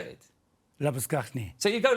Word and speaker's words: Labuschagne: Labuschagne. So you go Labuschagne.